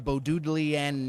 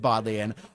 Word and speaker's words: Bodleian: Well, we're drafting the Bodlian Nen Cube. It's pronounced Bodley.